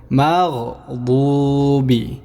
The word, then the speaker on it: المغضوب: عليهم ولا الضالين দেখেন দোয়াতকে আমরা মোটা করে পড়ব দোয়াতকে মোটা করে পুর করে পড়ব মাগদুবি মাগদুবি এভাবে উচ্চারণ করে নেব মাগদুবি গায়রিল মাগদুবি আলাইহিম